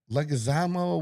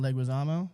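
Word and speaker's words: Leguizamo: So, what uh the Legazamo? What's Who's that John Leguisamo? Is that how you pronounce it?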